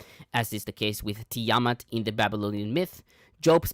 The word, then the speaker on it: Tiamat: Am I pronouncing that wrong to how do I say that? Tiamat what? Tyamat. Tiamat. I'm gonna put a Y in front of the A. Listen, Tiamat's fine.